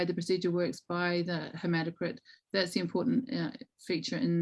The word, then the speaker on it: hematocrit: two questions around hemoglobin or hemocrit i'm probably not pronouncing this yes hematocrit so the first one